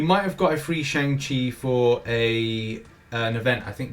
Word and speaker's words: Shang-Chi: And that's what we're going to be talking about now with Shang-Chi.